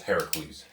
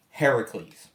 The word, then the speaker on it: Heracles: We're using the correct pronunciation of Hercules, which originally is Heracles. That's why we're saying. From the Hercules is from the Roman mythos, which is usually an incorrect translation. The Greek translation is Heracles.